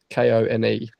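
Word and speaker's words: Koné: It's Kone.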